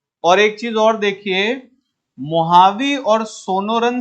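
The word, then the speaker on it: Mojave: desert लिखा हुआ है महावी डेजर्ट मुजा भी लिखा होगा बट याद रखिएगा ट in Mexico okay they don't pronounce जे व जे को एच प्रोनाउंस करते हैं इसलिए इसे महावी कहा जाता है और महावी के साउथ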